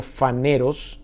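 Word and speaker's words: φανερός: manifiesta son vienen de un vocablo fun eros así se pronuncia ampliamente conocido o bien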